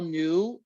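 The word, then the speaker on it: Neue: you know tell tell new and it's spelled n-e-u-e but it sounds like new like new you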